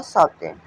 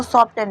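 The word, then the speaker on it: soften: अगर किसी वर्ड के लास्ट में इ एन है लेसन, फैशन, हसन, गेस्टेन, मोशन और सॉफ्टन। इसको सॉफ्टन नहीं पढ़ेंगे। सॉफ्टेन। तो इसमें टी जो है साइलेंट रहेगा। उसके बाद अगर किसी वर्ड के लास्ट में एल इ है।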